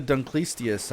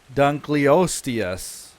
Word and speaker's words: Dunkleosteus: And I know that it's technically like Dunkleosteus. Like, that's it. But when I say it quickly, it just comes out as Dunkleistius.